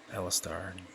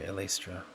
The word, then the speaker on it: Elastra: naked anna titus eventually alistar or sorry elastra as it would be pronounced in the south and as well as